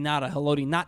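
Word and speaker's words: Ngata: It's like when the broadcasters would call Haloti Nata. Nata, yeah. That's technically how you pronounce his name, but we're lazy.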